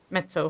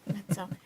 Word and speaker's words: Mezzo: It might even be one organization that is a Mezzo facility. I'm going to say it like a singer. Yeah, Mezzo.